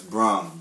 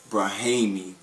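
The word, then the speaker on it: Brahame: That's Brahm, B-R-A-H-A-M-E. Not Braham or Brahimi.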